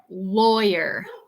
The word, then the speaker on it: lawyer: three we do say lawyer lawyer to say abogado lawyer so Loy Loy which rhymes with soy or boy uh er er lawyer